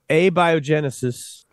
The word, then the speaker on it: abiogenesis: accent on the a a and the J A biogenesis I I believe that's it yes I remember